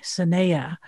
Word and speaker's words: Sehneyah: That's spelled S for Sam, A-H-N-E-Y-A, Sehneyah, hails from the Hopi and Tewa lands.